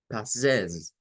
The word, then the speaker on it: possess: Miren en possess. Possess. No es po, no es una o, no es o redonda, es un schwa.